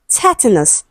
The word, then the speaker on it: tetanus: Option C we have tetanus, stressed on the first syllable.